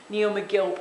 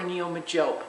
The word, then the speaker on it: Neo Megilp: Now I've talked about mediums that I like or a medium that I like which is neomilp or neo majilp. I've heard it pronounced both ways but necil mcgilpy majilpy by gamblin paint.